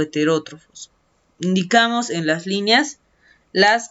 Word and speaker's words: heterótrofo: Entonces sería heterótrofo. Muy bien. Heterótrofo. Los acentos, la ortografía siempre es importante cuidar, ¿no? Heterótrofo empieza con H. Tiene acento en la O.